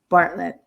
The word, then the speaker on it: Bartlett: I never know how to pronounce it. Bartlett. Bartlett.